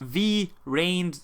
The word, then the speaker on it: Vrains: Yu-Gi-Oh video a Yu-Gi-Oh Rin video it is pronounced V rign like brains trains but with a V so it is going